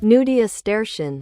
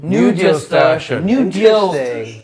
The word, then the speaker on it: nudiustertian: Nudiusterian. Nudiusterian. Oh, deal like day maybe in Latin.